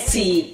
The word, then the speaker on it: choose: Choose rhymes with shoes.